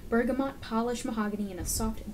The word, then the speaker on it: bergamot: a warm blend of bergamot no that's how you pronounce it bergamot polished mahogany and a